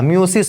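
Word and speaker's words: meiosis: তো কোষ বিভাজন মাইটোসিস বা মিওসিস প্রক্রিয়া, মিওসিস মায়োসিস যেটাই বলো, দুইটা উচ্চারণই সঠিক আছে, মাইটোসিস এবং মায়োসিস, এই দুই রকমের কোষ বিভাজন আমাদের ক্ষেত্রে বা যে কোনো প্রকৃত কোষীদের ক্ষেত্রে দেখা যাবে।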